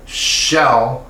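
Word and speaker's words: Xel: It's called Shell Hot, and it's actually spelled with an X. So Shell Hot, X-E-L, Shell.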